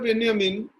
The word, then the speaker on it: Benjamin: तो पहले हम चर्चा करते हैं Walter बेंजामिन। Walter बेंजामिन German रचनाकार, विचारक हैं और उच्चारण के संदर्भ में बेंजामिन को बेंजामिन भी लोग कहते हैं, BENJAMIN।